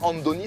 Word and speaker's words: Andoni: Alors j'ai pas mal prononcé, Andoni, c'est la version basque de Antoine.